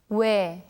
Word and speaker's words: 왜: Please listen carefully to how 선생님 pronounces this. 왜, 왜, 왜. That's right, this letter is read as where.